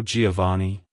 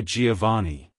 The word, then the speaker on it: Giovani: in the last syllable the V is pronounced softly almost like a b like hello Giovani goodbye Giovani if you found the